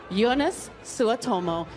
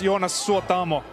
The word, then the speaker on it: Jonas Suotamo: Ladies and gentlemen, Jonas Suotomo. Hi, how are you this evening? I'm very good. It's pronounced Jonas Suotamo.